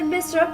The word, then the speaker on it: Mesrop: Quatrième chose à savoir, Samesrop, prononcé Mesrop en arménien occidental, dit aussi Mashtots en